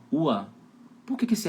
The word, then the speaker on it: Urlaub: Cara, esse R aí tá fazendo com som de A, ó. Ua.